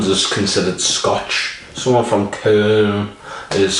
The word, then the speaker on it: Köln: from Cologne, in German, or Köln as they say in Germany. It's like someone from Scotland is considered Scotch. Someone from Köln is called Kölsch.